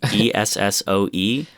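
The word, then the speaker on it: Essoe: life is alexandra uh i don't know how you've pronounced this esso e-s-s-o-e well she's esso it's it's her plus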